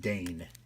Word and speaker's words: Dane: And that's pronounced Dane. D-A-N-E. Dane. Don't get it twisted. I spend my entire life correcting people for a simple 4-letter word.